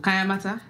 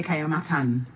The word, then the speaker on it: Kayamata: Oh, Kayamata? Yes, I always say Kayamatan, and there's no N at the end, right? There's no N, girl. Okay, all right. There's no N. So, Kayamata is something I've been